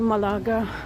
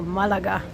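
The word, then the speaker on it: Málaga: and journey back to Malaga, or Malaga. Sorry, that's how you say it.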